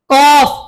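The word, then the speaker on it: كاف: গাইন ফা তারপরে আসি কফ মোটা কফ কফ কফ কাফ পাতলা বলুন কাফ কাফ কাফ লাম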